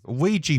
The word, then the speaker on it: Ouija: deck brings out a wuji Ouija board how do you say that well I forgot Ouija Ouija board that's it he brings out a